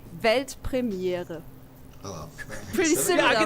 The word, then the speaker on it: Weltpremiere: It's actually Weltpremiere. Oh, pretty similar, yeah, right? I think I could do that. Yeah, do it. Weltpremiere.